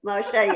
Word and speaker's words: Moshe: MOS MOS is that how you say it Moshe yeah yeah so you know so so in